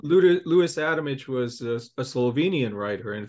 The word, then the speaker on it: Adamic: came across uh leis adamich pronounced adamic in America but I can't help myself so I call him adamic um and and I